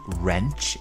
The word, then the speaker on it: wrench: one tool called a wrench in American English or spanner in British English and with wrench we have a silent W so bear that in